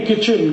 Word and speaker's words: kitchen: एक शब्द है किटचेन, KITCHEN, कहते नहीं किचन किचन किचन, फिर KIT क्यों लिख रहे हो, टी साइलेंट है, क्यों लगाया, हटा दो।